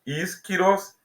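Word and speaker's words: ἰσχυρός: letras maiúsculas e minúsculas insiroz espiroz pronuncia-se esquirose e significa forte poderoso letra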